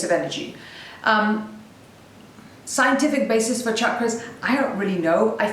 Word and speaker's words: chakras: so chakras which by the way are not pronounced chakras because it's one way to really irritate me it's actually chakras it's an Indian word and it means circle